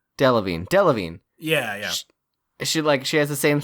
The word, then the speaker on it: Delevingne: I always call her Kara Deviled Eggs because I can never remember how to pronounce her last name. Divine? Delevingne.